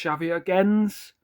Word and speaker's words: Xavier Gens: I think it's Xavier Gens. That's how they say it. Yeah, Gens.